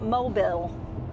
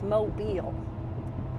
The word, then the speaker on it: Mobile: It is not Mobile. It is Mobile, Alabama. So fun day yesterday.